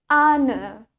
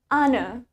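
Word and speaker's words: honour: In American English, we pronounce it as honor. Jadi di bahasa Inggris Amerika, kita mengucapkannya sebagai honor. Sedangkan di British English, kita bilangnya honor. Honor.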